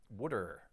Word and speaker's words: water: They pronounce it something like wooder.